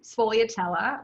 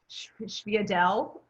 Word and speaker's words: sfogliatella: else make, is, well, there's several ways to pronounce them. Sfogliatella, which is how I say them, but like in my old neighborhood, you'd hear like sfiadelle, because of like the Italian American pronunciation, but it's like the